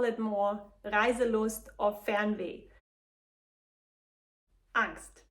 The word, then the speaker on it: Angst: Angst. This word is pronounced the same in both languages, but it has not 100% the similar meaning.